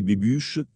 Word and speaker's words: Bobuche: Le château de Bobuche, prononcé Bébuche, abrite Wojciech Zajna, qui a planifié et construit lui-même une grande partie de la maison.